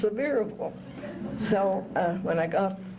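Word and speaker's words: Sevierville: a bus ticket to well I called it SE Arville but I found out it's pronounced severable so uh when I got to seille I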